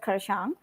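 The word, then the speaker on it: Kurseong: April I visited um this uh place called kurong but the locals pronounce it as Kang and kalimpong and uh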